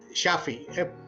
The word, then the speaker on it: Shafi: विदु, actually मेरा नाम है। एक्चुअली इसका करेक्ट प्रोनाउंसिएशन है । Shafi, and this word has got 2 meanings in Arabic. One is a person who treats, Shafi, and when it is